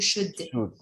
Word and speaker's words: should: This L is silent. You should.